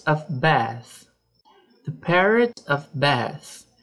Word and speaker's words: Beth: The parrot of Beth. Perceba que o nome Beth tem um TH no final, então a gente vai pronunciar com a língua entre os dentes.